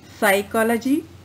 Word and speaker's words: psychology: all these three words psychology psyche p is silent in these two words now look at the